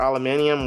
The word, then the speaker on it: aluminium: use, they both use aluminum or aluminium, whatever way you guys pronounce it.